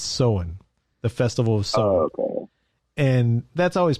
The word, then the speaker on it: Samhain: yes i do yeah yeah it is not pronounced samhain it is written samhaim but do you know how do you pronounce it no i don't sew in it's the like so sow our s-o-o-w-e-n sew-in